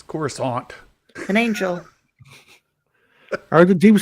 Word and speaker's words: Coruscant: he said of course everybody said chorus scan and all of a sudden George Lucas decided to go with the fancy or French pronunciation of it and they're like are you an angel it's corus Aunt an angel are the